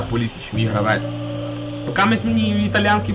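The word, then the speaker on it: Pulisic: качати як Боженька полісик я буду назвати полісик знаю що він читається полісч Калабрія Кеп Кеп на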